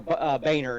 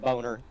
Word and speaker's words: Boehner: It's like Baning, friggin', or Boehner instead of Boner.